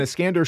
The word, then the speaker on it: Iskander: And then you have this other prince named Iskander. Am I saying that right? Yeah, you're saying it right. Okay, so when Iskander shows up, he is a royal son.